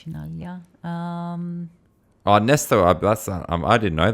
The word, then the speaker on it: Chinaglia: How do you say it? Chinaglia. Chinaglia? Oh, no G's. No G's. Chinaglia.